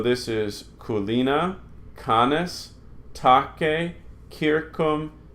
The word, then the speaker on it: circum: So you would want to pronounce this circum and civis. But we're not going to do that. All our C's are always hard. Circum, civis.